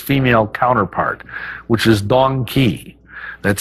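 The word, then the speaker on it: dong quai: I can't forget its female counterpart which is donkey that's spelled d-o-n-g-q-u-a-i and Donkey is a great herb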